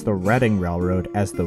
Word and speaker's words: Reading: though it's a common mistake like how people pronounce the redding railroad as the reading railroad anyways 1325 was designated as a cnor